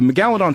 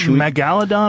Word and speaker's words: megalodon: Is it megalodon or megalodon? How do you say it? It it's it depend. Your empasis can be on a different salab. It's it's both.